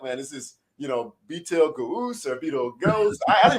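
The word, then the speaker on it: Betelgeuse: i was like man this is you know b tail gauze or beetle ghost i don't even know what it says you know just for everybody knowing that when you read it it is pronounced beetlejuice there is no reason no rhyme or reason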